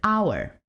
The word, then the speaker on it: hour: which is the word hour starts with the consonant in writing with the silent h pronounced without it pronounced